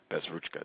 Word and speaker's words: Bezruchka: Bezruchka.